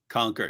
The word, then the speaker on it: conquer: So, David, By the way, I like how you say conquer. You actually pronounce the U.